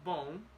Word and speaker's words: bom: When you pronounce bom, first, no Portuguese words end in N, in the letter N. All of them will end in the letter M.